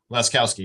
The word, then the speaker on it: Laskowski: Everyone who's testifying, am I pronouncing the last name correctly? Is it Laskowski? Laskowski, yes.